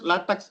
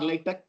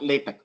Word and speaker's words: LaTeX: So some of them pronounce LaTeX or LaTeX, both are same anyway, and not LaTeX.